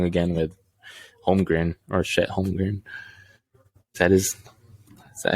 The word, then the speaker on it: Chet Holmgren: Hopefully, I'm proven wrong again with Holmgren or Chet Holmgren. Is that how you pronounce it?